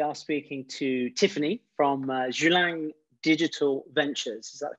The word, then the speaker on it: Julang: everyone today we are speaking to tiffany from zhulang digital ventures is that the correct pronunciation tiffany yes perfect it's only taken me